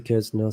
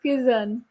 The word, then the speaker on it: Quezon: What? Quiznos. How'd you say that? Making fun of me? I'll make fun of you when you try to No. pronounce the Norwegian cities. No, that's Quezon. Quezon, Quezon, Quezon. Quezon, Quezon Quezon City.